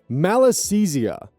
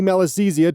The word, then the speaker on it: Malassezia: the middle of it, the first syllable being mal, literally meaning bad or evil.